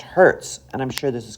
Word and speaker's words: hertz: to something we often write as Hz, which is pronounced hertz.